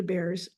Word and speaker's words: Beare: My last name is pronounced Beare, like the animal that lives in the woods, but we've got this silent E on the end here.